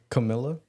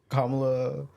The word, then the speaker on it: Kamala: I can't pronounce her name. Kamala. Camilla? Yes. You talking about Kamala?